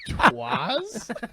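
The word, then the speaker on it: 'Twas: Twas? Isn't that what, Twas? isn't that what it was? It's the worst. Oh, twas. Twas. Twas. You're putting the wrong emphasis on the wrong syllable.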